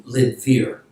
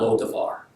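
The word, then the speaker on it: Lidebir: Rather, the place name is actually Lidvir, not Lo-Devar. It's Lidvir.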